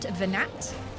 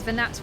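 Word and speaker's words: Venat: Also, not Venet. I have been mispronouncing that this whole time.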